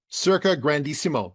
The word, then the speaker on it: Circa Grandissimo: Circa Grandissimo.